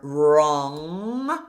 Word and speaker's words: wrong: Watch out for wrong. So again, we have r. We have this consonant cluster but the W is actually silent.